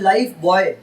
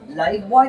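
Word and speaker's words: Lifebuoy: इट्स नॉट लाइफ बॉय, लड़का ही जिंदगी है, ऐसा नहीं है. लाइफ बॉय नहीं रहता, वो ये वाला बॉय है लाइफ बॉय.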